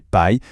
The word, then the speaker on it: pie: En anglais, le mot tarte, c'est pie, et ça se prononce exactement comme pi.